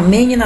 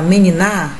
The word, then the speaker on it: menina: Tem uma menina na tua casa? Não tem? Tem uma meniná? Meniná, se fosse uma oxítona, também não, então é menina.